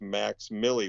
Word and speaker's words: MVX MILLI: And so my son's stage name is Max Millie, which is MVX MILLI.